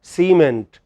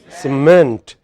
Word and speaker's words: cement: We cannot say cement, we should say cement.